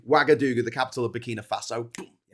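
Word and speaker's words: Ouagadougou: It's spelled O U. Wagadooga.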